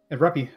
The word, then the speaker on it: rupee: entire life it's it's rupie like yeah you don't really yeah yeah you don't you don't yeah yeah you don't really pronounce it like a double o yeah it's not a